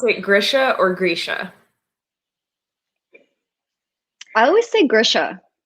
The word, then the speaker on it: Grisha: So I looked up a video of Lee Bardugo, and she says Grisha.